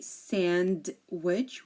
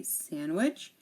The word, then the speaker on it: sandwich: D is silent here we have sandwich we don't say sandwich we say sandwich and we have Wednesday